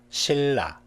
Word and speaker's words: 신라: 신라, 신라.